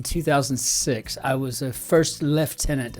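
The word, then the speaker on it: lieutenant: I was a first left tenant I think you pronounce that first left tenant combest just got back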